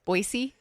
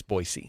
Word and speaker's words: Boise: And then there's the ongoing fight of whether it's Boisey or Boise. Yeah. That's only a fight cuz to people who don't know it's Boyisey, right?